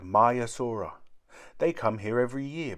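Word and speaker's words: Maiasaura: does the name mean myasura means good mother lizard the females were very protective over their young how do you say it my asura say my asura in the sea many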